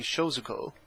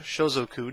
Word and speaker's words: Shozoku: We're going to go with the standard Shinobi Shozuko, or Shozoku, depending on your choice of pronunciation.